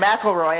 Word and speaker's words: McElroy: Including Erin McElroy. I asked her how to pronounce her name and she said it's like Macklemore, but slightly different.